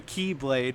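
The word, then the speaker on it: χ-blade: the ultimate doomsday weapon which is called the keyblade but it's spelled like the X blade uh while Aqua story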